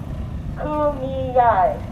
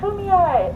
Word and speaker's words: Kumeyaay: I can correct people when they say Kumeyaay wrong. Kumeyaay. I'm going to poke you in your eye if you say it wrong.